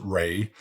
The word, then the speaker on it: Ra: in Egypt there were Gods like Rah some pronounce it Ray and Osiris among the